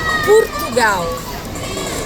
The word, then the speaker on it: Portugal: Por exemplo, Portugal, eles dizem Portugal. Então, se escreve com O, mas se pronuncia com U.